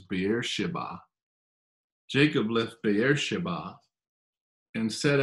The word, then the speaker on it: Beersheba: we read jacob left beersheba which you know we say beer sheba which i think the pronunciation correctly is beer shiba jacob left beersheba and